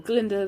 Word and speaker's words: Glinda: personality-wise then of course you've got glinda or garlander or glinda the guy is silent god i love glenda on first glance